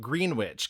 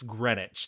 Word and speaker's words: Greenwich: It would be Ganzabort because that's how it's spelled. Um there's another town near me called Green Witch. Guess what? It's Greenwich.